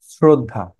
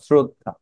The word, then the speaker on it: শ্রদ্ধা: হবে সবাই আমাদের আপনজন এই যে ঋকারের মত আরেকটাও কি রফলা রফলাটাও অনেকে উচ্চারণ করতে আসলে বেশিরভাগই উচ্চারণ করতে পারে কিন্তু আসলে অসচেতনতার জন্য বা কনশাসনেসের থাকে না কনশাসনেস সেজন্য অনেক সময় ভুল হয় শ্রদ্ধা তালবসয় রফ শ্রদ্ধা আমাদের আছে নানা ধরনের